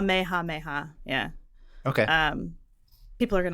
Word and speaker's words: Kamehameha: I'm going to keep pronouncing it Kamehameha, like a Californian would. So so how are you supposed to pronounce it? Did you figure it out? Or I was kind of close. It's called Kamehameha.